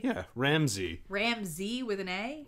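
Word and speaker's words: Ramsay: is r a m s a y yeah ramsy Ramsey with an a correct I don't know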